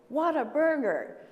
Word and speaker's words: Whataburger: people bit into it, they would say, "What a burger." So that's how you say it and that's where the name came from.